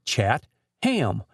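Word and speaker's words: Chatham: So the proper pronunciation for the town of Catham is Chattam with the accent on the hind end.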